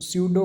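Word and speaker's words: pseudo: Next question है ए स्यूडो code is, इसमें P silent होता है, अच्छे से देखना।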